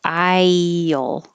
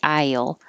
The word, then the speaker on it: I'll: you you will know so instead of iel we do say i'll i'll it can be a